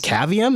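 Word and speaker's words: Cavium: some pictures of Allan is caveum is that how you pronounce this thing yep uh so cavum is a company that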